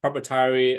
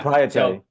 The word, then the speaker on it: proprietary: name or you know it's just like uh propietary uh uh how do you say that word uh in perpetuity it was property ofz banking corporation yeah proprietary uh proprietary yeah right yeah so you didn't